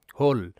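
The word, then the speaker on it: whole: হ আর এলতে ল হোল হোল শব্দের শেষে ই সাইলেন্ট তো এখানে এর অর্থ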